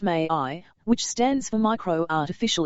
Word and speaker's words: MAI: I named the software MI, pronounced May II, which stands for micro artificial intelligence.